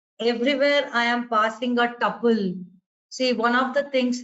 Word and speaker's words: tuple: So here I'm using a tuple everywhere. I'm not using a list. So the tuple or tuple, pronunciation Tuple, that I'm making use of is, I've just given it the name of val.